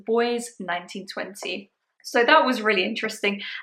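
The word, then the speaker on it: Bois 1920: this entire time I thought it was called B 1920 whereas now I know it's pronounced boy 1920 so that was really interesting and to be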